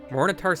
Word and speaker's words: Morinehtar: Phonetically, Morinehtar sounds like morning star, and using that as